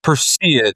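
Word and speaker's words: Perseid: Yeah, that was a huge honor for us at Presseid. We were very excited about it. It's your latest restaurant. How do you say it? Presseid? Presseid.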